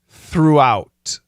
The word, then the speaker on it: throughout: Coach Shane, what's the pronunciation of the words thought, though, throughout? Thought, thought. It's an AW. Thought, though. It's a long O. Though, and throughout. It's a long double O. Throughout. And then an ow diphthong.